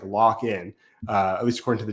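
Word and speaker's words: Lakhin: I didn't you don't you don't read it that way but it's pronounced like lockin uh at least according to the TV announcers so Victor lockin I thought he's been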